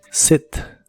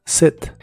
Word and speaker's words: sit: de inglés es set se pronuncia con la i corta que se parece un poco a la e set set y la puedes usar